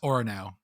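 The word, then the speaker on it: Orono: It's actually pronounced Orino.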